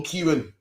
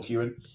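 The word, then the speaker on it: Ciarán: about now we just beat was storm storm Kieran two days ago yesterday storm Kyan was yesterday man about about weird but apparently it's pronounced stor storm Kyan you know be getting it in man upk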